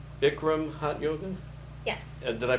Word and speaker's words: Bikram: And according to our little form we have you fill out, you like Bikram hot yoga? Yes. Did I pronounce that right?